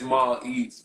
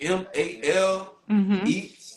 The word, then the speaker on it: maleats: Make sure you guys follow is this pronounced Mall Eats 954? Yeah, it's Mall Eats. I think I said it. Mall, whatever. You know, however you wanna pronounce it. MAL Eats, like Uber Eats.